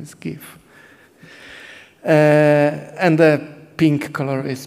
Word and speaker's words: GIF: The proper pronunciation is GIF, and the pink color is transparent.